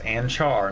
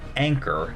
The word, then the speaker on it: Anchar: is the anchar model that is anchar not Anor as eor made it absolutely clear to me the pronunciation because it isn't named after an anchor in anyway it's actually named after